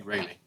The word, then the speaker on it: Raley: rayleigh presented by our raley hi thank you for pronouncing my last name right no one ever gets it right um i'm requesting